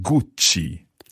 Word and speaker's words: Gucci: First of all, there was the one that's spelled Gucci. Gucci. Gucci.